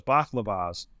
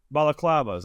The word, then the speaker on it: balaclavas: I thought it was always baklavas. Is that, am I saying that correctly? Balaclavas. That was it.